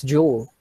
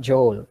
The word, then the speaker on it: joule: energy all right so but we pronounce it as jewel jewel not joel okay jewel or what